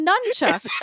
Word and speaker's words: nunchucks: street with numb chucks did you say it with an M isn't it nunchucks is it I literally wrote it as nuu m b how do you say it it's nunchucks right well listen Myrtle